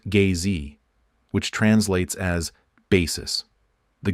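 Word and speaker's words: gzhi: The name for the primal ground in drogchin is gi pronounced gay which translates as basis.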